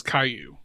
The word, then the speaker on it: Caillou: to spell his name it is spelled c a i l l o u it's a French word which means stone or Pebble okay at first I